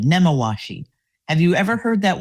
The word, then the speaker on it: Nemawashi: And the CFO at the time, he said that, well, we practice a Japanese term called namawashi. Did I say it right? I did. Nemawashi.